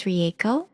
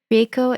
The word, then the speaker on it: Rieko: again my name is riao I am Spirit have having a human experience Just Like You REO is spelled r i e k o I tell people that it rhymes with San Diego and that seems to